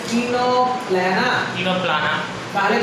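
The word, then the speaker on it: Ctenoplana: প্লিউরোব্র্যাঙ্কিয়া, টিনোপ্ল্যানা, এই সি দিয়ে বানান শুরু হয়েছে কিন্তু দেখো বানানটা এরকম আছে টিনোপ্ল্যানা, तीनों प्लाना।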